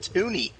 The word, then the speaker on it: toonie: But why is the $2 called a toonie? Because it rhymes with loony and is a 2.